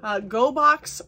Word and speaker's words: Gogh: Gogh Art Crate is their YouTube channel. Go is spelled G-O-G-H, like Van Gogh.